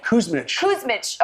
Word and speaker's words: Kuzmic: You had Christina Kuzmic. Is that how you say it? Kuzmich.